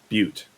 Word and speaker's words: butte: to Ravenglade Keep, perched atop this large rocky butte. As I'm told, that is how you pronounce this particular geological formation.